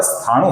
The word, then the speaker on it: स्थाणु: स्थावर स्थाणु का जो ण है ये ह्रस्व है। तो इसका हमें छोटा ही उच्चारण करना है। ह्रस्व ही उच्चारण करना है। ये स्थावर स्थाणु नहीं है। ये स्थावर स्थानु है।